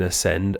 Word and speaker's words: ascend: We get a silent A in critically, a silent B in bomb, a silent C in ascend, a silent D in